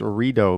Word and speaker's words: Rideau: live stream drive together FYI it's pronounced Rito do you know how many Athen comments I got because I said Rideau Center when it's Rito because I don't know French okay read the other